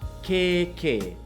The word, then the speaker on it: kēkē: Kēkē So we've got keke and kēkē, can you say kēkē? And kēkē is the Māori word for armpit Pretty different to a